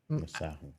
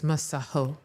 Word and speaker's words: Masego: In his interviews and on tracks he's been saying Mgo, but we've been getting like he was like, "Oh, y'all been They're ignorant. They've been pronouncing it wrong. It's a South African name. It's Maho."